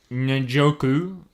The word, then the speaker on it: Njoku: They had that good young tight end in David Njoku.